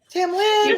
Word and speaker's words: Tamlynn: Tamlynn, right?